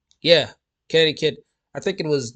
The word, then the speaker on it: Connecticut: Connecticut. Yeah. Connecticut.